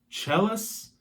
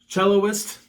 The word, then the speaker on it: cellist: guitarist keyboardist bass guitars jealous is that how you say it jealous cellist okay that's probably better probably a better way to say it you know violin